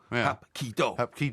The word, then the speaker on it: Hapkido: But anyway, karate's just a purely brutal, violent thing, whereas Hapkido, Hapkido. that's how you pronounce it, and you bow to your opponent.